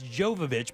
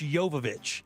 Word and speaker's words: Jovovich: oh yovich it's it's people think it's Jovovich but it's not it's yovich oh wow because she's Ukrainian the Jay is silent but Mila yovich was